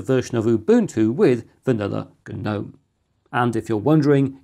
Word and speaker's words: GNOME: of Ubuntu with vanilla GNOME. And if you're wondering, it is pronounced GNOME due to the double acronym and has nothing to do with tiny stone goblins.